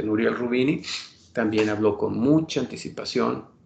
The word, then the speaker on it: Nouriel Roubini: nouriel roubini nouriel roubini así lo pronuncia nuriel rubini también habló con mucha